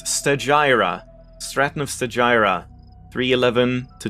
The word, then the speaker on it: Stagira: area and i should look up how that's pronounced apparently it's stagira stratton of sagira 311 to 254 bc was